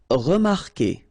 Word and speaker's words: remarquer: Okay, remember that when we've got this Q, and after that, well, vowel like here. Anyway, you've got to put this vowel U, even if you don't pronounce it. Okay, so it will go like K, K. Okay, remarquer, remarquer.